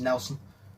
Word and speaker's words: Nielsen: I think it's spelt Nielsen, but I'm pretty sure it's pronounced Nelson.